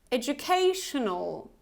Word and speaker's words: educational: Educational, tional. So you see we have double schwa here, tional, tional. So you can repeat after me to just get the idea how to pronounce this schwa sound, tional, tional.